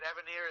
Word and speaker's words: Evanier: And Mark, is it Evanier? Is that the way it's pronounced?